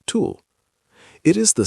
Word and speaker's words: TEWL: This invisible leak has a name, transepidermal water loss, tewl, pronounced tulle.